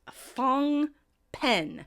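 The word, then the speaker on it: Phnom Penh: now he is the capital of Cambodia is pronounced fong pen fong pen yes yes a name that can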